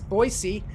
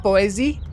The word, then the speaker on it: Boise: from uh boise idaho make sure you say it right because it's boise it's not boise it's boise boise idaho this is